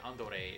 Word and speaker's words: Andore: Oh, BTW, the reason that they call Andre Andore is because Andore is how a Japanese person would say Andre if they were using katakana to pronounce the name.